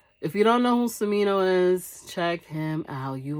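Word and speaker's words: Smino: your new album i'm gonna be listening to samino guys this is the artist that i am loving for the past couple of years i am loving cimino hopefully i'm saying his name is spelled s-m-i-n-o-s-m-i-n-o samino phenomenal artist no one sounds like him he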